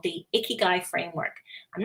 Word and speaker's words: ikigai: of it before it's actually a japanese word ikigai that roughly means your reason for being and it's pronounced ikigai and um once icky guys found where the